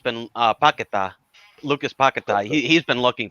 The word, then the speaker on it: Paquetá: Paquetá. I've been saying Paqueta this whole time, mate.